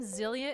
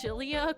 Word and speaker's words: Xillia: The X in Xillia is pronounced with an SH.